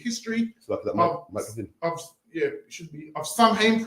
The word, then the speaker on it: Samhain: People it's pronounced start Samhain, but the proper pronunciation, how the council have said it, is Samhain.